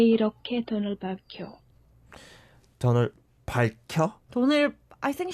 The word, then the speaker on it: 밝혀: So it's more like 밝혀. 밝혀. Yeah, if you think it's difficult, then just think of it as just having the 리을 받침 and then pronounce the 혀 as 켜. 켜. Because 기역 and here is combined and it sounds like 켜.